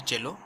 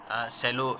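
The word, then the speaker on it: cello: देखिए ये जो वर्ड है इसका प्रोनाउंसिएशन होता है चेलो, ठीक है, सेलो लिखा हुआ है लेकिन आप इसको चेलो पढ़ेंगे, ठीक है।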